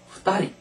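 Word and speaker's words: ふたり: 때는 히토리 두 명은 후다리 세 명은 산님 그래서 여기서는 중요한 거는 한 명과 이제 두 명 이것만 발음이 다릅니다 히토리 후다리 이건 외워 놓을 수밖에 없어요 그래서 히토리 후다리 그런데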